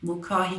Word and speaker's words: Mulcahy: So it's curated by Geraldine Mulcahy, I can't pronounce her name, Mulcahy Parker.